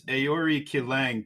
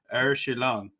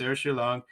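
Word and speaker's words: Aori Qileng: you read this in straight American terms, it's Aori Kilang, but it's Er Shilang when you want to pronounce it correctly. So Shilang is going to and it's all combined into one name. So it's Er Shilang.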